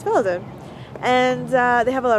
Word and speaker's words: Velden: to say and felden with a v instead of an f but i think it's pronounced felden and they have a